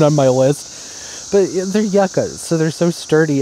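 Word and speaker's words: yucca: it should be fine they're just yucka right yaka is like a good amount of drainage and yes I am pronouncing it right Yuka is a different plant it's spelled different it looks different don't come for me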